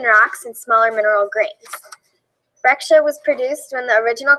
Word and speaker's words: breccia: And it's spelled Breccia, but pronounced Breccia.